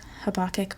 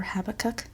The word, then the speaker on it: Habakkuk: up stuff in Habakkuk I guess it is also is pronounced Habakkuk or Habbakuk but there's some some